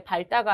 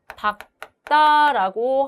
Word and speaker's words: 밝다: 기역으로 발음한다라고 했기 때문에 밝다가 아니라 박다라고 하는 것이 맞습니다.